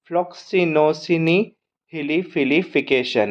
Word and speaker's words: Floccinaucinihilipilification: इतनी बड़ी स्पेलिंग है फ्लक्सो सिनी ली फिली फिकेशन यह इसका प्रोनंसिएशन है अगर आप इसे तोड़ना चाहे तो आप फ्लॉक्स को एक एक कैटेगरी में कर लो फ्लॉक्स एफ एल O double C आई फ्लॉक्स